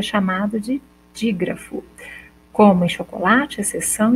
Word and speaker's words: chocolate: que encontro consonantal e quando eu falo chocolate vocês podem perceber que eu escrevo com ch mas eu pronuncio o som duches então se eu fosse perguntar para vocês qual quantos fonemas eu tenho chocolate vocês vão perceber que eu tenho o som do x e não ch então eu tenho uma